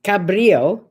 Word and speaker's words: Cabrillo: used to live and that's c-a-b-r-i-l-l-o pronounced cabrillo there's cabrillo park and